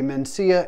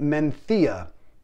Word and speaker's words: Mencía: time pronouncing it looks like you would say mencia and i've heard it pronounced that way by some americans on other channels however you should pronounce it menthia and the reason i have a problem pronouncing